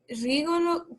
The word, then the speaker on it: rigolo: C'était rigolo. ¿Cómo se dice? Rigolo. Siempre acentúen en la final.